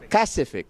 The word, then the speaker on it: Kacific: Did I pronounce that correct? Kacific. KA, I think is key there.